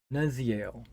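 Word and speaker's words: Nuzyael: put nuz eel okay because y's are pronounced as two e's so nuzziel and then I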